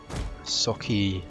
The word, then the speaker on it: socii: Soki, that's how you say it.